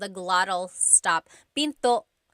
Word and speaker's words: pinto: And remember, don't forget the glottle stop. Don't forget to stop the sound at the end. That's called a glottle stop. Pinto. It's not Pinto, it's Pinto.